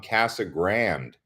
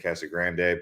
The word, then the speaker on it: Casa Grande: We've got Grant tuning in from Casa Grande. Everyone likes to say Casa Grande, Casa Grande, but we're calling it Casa Grande.